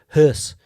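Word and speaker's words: Höss: It's the O with the 2 dots on it. Yeah, so it's pronounced Hess. Rudolf Hess.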